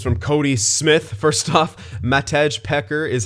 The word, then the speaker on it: Matej: here this one's from Cody Smith first stuff Matej pecker is how you pronounce the new fourth line dude's name all